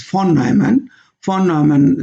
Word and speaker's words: von Neumann: Now this is called von Neumann stability analysis. Correct pronunciation is von Neumann stability analysis.